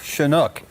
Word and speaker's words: Shunock: your last name and i just say to them i'm chinook the canuck so that was an